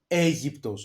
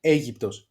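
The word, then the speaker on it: Αίγυπτος: This is Aegyptos. You see what I did here? Alpha and iota together, it gives us the sound E. Okay, Aegyptos, Egypt.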